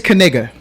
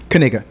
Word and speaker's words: Kigga: k do you well when you say this Family's last name you better pronounce that K that their name is kigga kiga that's their name their